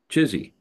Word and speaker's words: Chizzy: But anyway, we pronounce it uh, Chizzy.